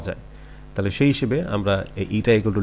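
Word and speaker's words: η: আমরা একটা vector sign আনলাম ইটা, এটা উচ্চারণ হচ্ছে ইটা।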